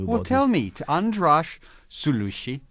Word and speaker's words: András Szőlősy: Well, tell me, András Szőlősy, pronounce it properly.